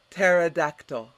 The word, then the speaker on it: pterodactyl: in in undergrad crazy next word pterodactyl repeat te ra what is a pterodactyl